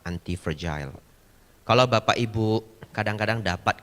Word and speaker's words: anti-fragile: Ya, nulisnya anti-fragile, F-R-A-G-I-L-E. Pronounce-nya yang benar adalah anti-fragile.